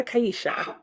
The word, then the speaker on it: Kaisha: So Kaisha. Oh, just 2 syllables.